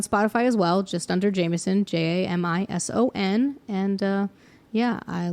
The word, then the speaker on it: Jamison: I am Jameson music Jamison with an i so said like the whiskey but spelled like my name that tagged in our